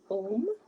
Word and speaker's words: Om: And the seed sound for the third eye chakra is Om. And it is A-U-M because each syllable has its own energetic connection to universal consciousness.